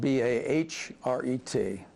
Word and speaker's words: Bahret: the Barrett is spelled B-A-H-R-E-T. And many people say you should be saying Bahret. I've always said Barrett, so Barrett or Bahret, whichever way you want the English or the.